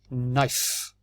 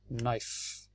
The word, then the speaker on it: knife: has a silent case i don't pronounce the k what is this knife knife this is alive the